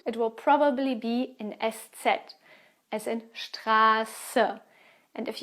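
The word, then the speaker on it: Eszett: is the fourth special letter which is called s set you don't find it at the beginning of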